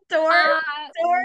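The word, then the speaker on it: Dorr: it will happen uh it takes place in Door Michigan uh which is about 10 minutes from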